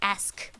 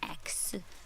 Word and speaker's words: ask: Like, it's ask, not ax.